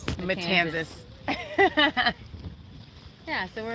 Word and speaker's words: Matanzas: The Matanzas Matanzas. Bay. So that's what we're looking at into. Rhymes with Kansas. Matanzas.